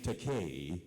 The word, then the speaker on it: Takei: this uh YouTube PSA my name te rhymes with gay so in Tennessee if